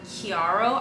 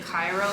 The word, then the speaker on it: Chiaro: It's called Chiaro, I believe. I pronounced it Cairo at the store and the guy corrected me.